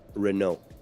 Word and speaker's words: Renault: it's Renault um Renault so just say it without a t huh yeah and um that's usually the case unless there's an a vowel at the end of something that has a t you don't it's it's silent basically um but like it's